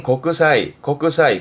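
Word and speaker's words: 国際: 그래서 국제 발음은 고크사이, 곡사이 부분에 국제 제자기도 했었죠.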